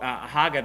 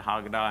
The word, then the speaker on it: Haggadah: There's a book called Haggadah, I think is the way that you pronounce it, and then it's kind